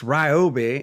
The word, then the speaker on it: Ryobi: You know, I'm surprised it's not pronounced well, the way a lot of people pronounce is r e e o b i e, but that don't make any sense cuz it's not Ryobi. It's Ryobi, and Ryobi has an amazing